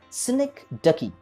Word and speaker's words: synecdoche: Remember the pronunciation of this particular word, that is synecdoche.